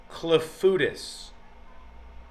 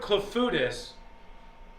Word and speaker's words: clafoutis: But the entire movie was about clafoutis. Have you ever heard of clafoutis? And if so, is it good? Clafoutis. Clafouti? It's pronounced clafouti. They said clafoutis a lot of times in that movie.